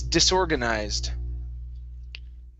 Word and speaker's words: disorganized: ending as well okay the e will be silent the word is disorganized organized try that one